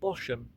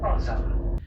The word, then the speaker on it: Bosham: Now I wanted to call it Bosham, like how it's spelt, but I learnt from the train announcements this morning that the H is silent.